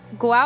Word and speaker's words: Guao: It's actually Guao. 2 syllables.